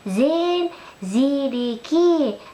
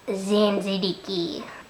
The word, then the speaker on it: Zain Siddiqui: It is pronounced Zain Siddiqui, not Zain Siddiqui.